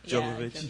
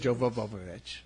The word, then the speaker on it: Jovovich: Yeah, Jovovich. Jovovich. It always seems like you should add an extra syllable or 2 there.